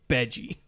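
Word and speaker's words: Bege: I hate to pronounce it this way because I do say it beige either way. It's Beji.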